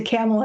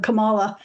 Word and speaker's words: Kamala: kind of racist thing if you say camela instead of Camala you know or Kamala